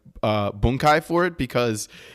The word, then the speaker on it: bunkai: Well, it's funny is you said the word bunkai, which is how it's pronounced.